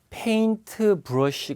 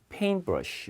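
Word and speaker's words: paintbrush: 뺑 드 페이 플러스 여기도 페인트 브러시 가 아니라 가운데 t 보통 이제 이렇게 nt 라는 것이 붙어 있으며 는요 2t 발음 자체가 많이 소멸 되거든요 그래서 페인트 브러쉬 를 켜지 않고 요 페임 브러쉬 5기 들인데 부십니다 그죠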